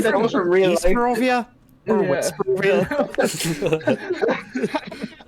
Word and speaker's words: Barovia: Barovia? Or West Barovia? You pronounce your V's.